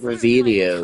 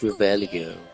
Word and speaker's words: Revelio: It's not Revelia. It's Revelio.